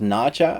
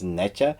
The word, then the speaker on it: Nezha: It's actually pronounced Naja, I believe, although the English spelling of it is Necha.